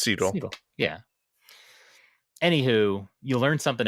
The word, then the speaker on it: Segel: It's wait, now I can't remember the pronunciation. Jason, oh my God. Jason Segel? Segel. It's Segel.